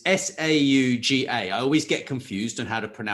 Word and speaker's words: Sauga: And so if people want to follow SaugaTalks, it's SAUGA. I always get confused on how to pronounce it, I'm afraid.